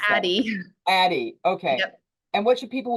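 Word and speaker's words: Addyi: it Addy what is the how do you pronounce that Addie okay and what should people with breast cancer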